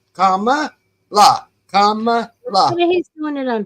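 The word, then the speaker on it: Kamala: was doing today and he called her camel he goes camel and I and I thought you obviously wasn't at the debate because they told you how to pronounce her name it was comma comma la come he's doing it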